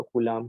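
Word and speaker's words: coulomb: हैं वैसे तो इसको, कूलाम को। कूलम, वैसे मैं कूलाम बोलता हूँ, ऐसे कूलम बोलते हैं आप लोग, इसकी प्रोनाउंसिएशन चेक कर लीजिएगा गूगल पे।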